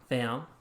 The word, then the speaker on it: Pham: So my last name is Pham, but it's pronounced Pham.